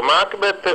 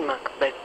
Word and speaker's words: Macbeth: In quale ruolo Lady Macbeth Lady Macbeth Anzi perché abbiamo deciso che l'accento cade sull'ultima sillaba e quindi ci sforziamo di dirlo anche se in italiano siamo abituati al Macbeth ehm parlare del del